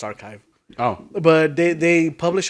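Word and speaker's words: arXiv: to pronounce it because ax ar x iv pronounced archive oh but they they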